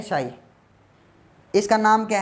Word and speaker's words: chi: What is this, इसको चाई बोलते हैं, कई बच्चे शाई बोलते हैं, ठीक है, ये प्रोनाउंस है यहाँ पे, प्रोनाउंसिएशन चाई बोलते हैं बच्चे, बुकों में CHI लिखा था, तो है ये शाई।